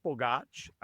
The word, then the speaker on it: Bogacs: Yeah, so I'm Bogacs. So the last name, is pronounced Borg, like Borg through Star Trek, and Arch, like an arch.